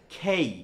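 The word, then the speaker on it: K: হ্যাঁ, কেটা আসলে এটা জীবনও কে না, এই উচ্চারণটা হচ্ছে খেই। কি বলতো? খেই। অর্থাৎ এটা ক না বলে একটা ক্ষয়ের উচ্চারণ আসবে, এবং এটা কে না, এটা এবং কেইও না, এটা হচ্ছে খেই।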